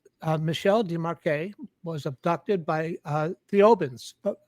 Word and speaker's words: Thiaoouba: Desmarquet was abducted by Thiaoubans. Thiaouba, is that the planet? Yes. Did I pronounce it correctly? Yes.